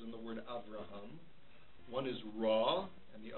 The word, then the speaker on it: Avraham: It's not shimmeon. It's not aviraham. It's avraham. Shimon. Okay?